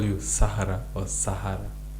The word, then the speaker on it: Sahara: Sahara. Like that. Just simple as that. But then I also have friends who for some reason have stopped have cannot pronounce Sahara and and maybe they choose not to. So they always call me Zahara.